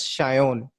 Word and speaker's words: Sayan: But it's pronounced like my parents pronounce it as Shayon, which is how it's pronounced in Bengali.